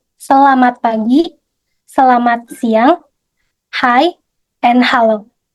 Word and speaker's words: selamat pagi: When you meet people in Indonesia or in Jakarta, you will hear this expression like selamat pagi, selamat siang, hi, and hello.